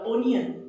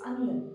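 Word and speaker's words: onion: सिफ this is न नॉट ओनियन इट्स अनियन we don't eat अनियंस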